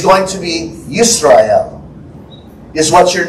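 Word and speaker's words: ישראל: So Israel would be Yisrael, is really how you would pronounce that in Hebrew.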